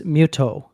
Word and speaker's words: Mytho: So his his name is written as Mytho but in both dubs I was spot-checking this and in both dubs mytho is pronounced as muto.